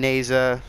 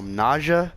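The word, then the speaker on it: Nezha: prom like low-key prime neza a lot of people call nausea I call neza because neza the H is silent it's not nausea there's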